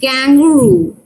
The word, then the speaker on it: kangaroo: So the word is kangaroo, but the stupid colonizers, they couldn't pronounce kangaroo with stress on the first syllabus.